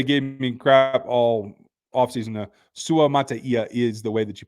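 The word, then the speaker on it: Suamataia: I know everybody gave me crap all offseason Su Mata is the way that you pronounced that he said it himself in the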